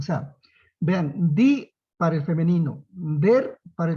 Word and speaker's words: die: Die es el artículo femenino, como decir la. Die, se escribe D-I-E, pero se pronuncia die.